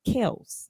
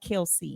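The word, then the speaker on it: Kelce: to me he but their their name is pronounced Kel not Kelsey wow so they just went along with it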